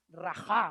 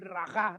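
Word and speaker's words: רוח: Cuando habla en el Antiguo Testamento del Espíritu Santo, habla de esta palabra hebrea rajá o algo así, sí, se pronuncia así.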